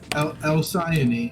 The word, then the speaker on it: Alcyone: the Alki one, right? No, I wouldn't call it that. Alcyon Because- one. Alcyone is the correct pronunciation.